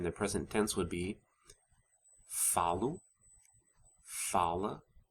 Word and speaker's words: falo: in the present tense, the stress falls on the second to last syllable. So it's falo, fala, falamos, falam. Also note that the final vowels of the eu, você, and third person singular forms are weakened to the u and a sound because they're unstressed.